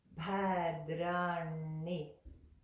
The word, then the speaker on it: Bhadrāṇi: of this is that the D sound in here is not made like a D. It's made with the same emphasis that we made when we made the sound, because the tongue is going to be on the front of the back of the front teeth and be drawn back for the.